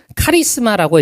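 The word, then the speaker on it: χάρισμα: 이 은사는 원어로 카리스마라고 읽으면서 그 뜻은 은혜의 선물, 하나님의 선물을 뜻합니다.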